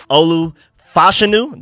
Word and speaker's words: Olu Fashanu: draft trade chart possible tackle candidates would be Olu fashanu that's how you pronounce his name now I'm hearing recently Troy